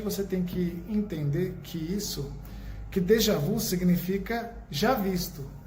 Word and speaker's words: déjà vu: é esse déjà vu, ou da pronúncia correta, déjà vu.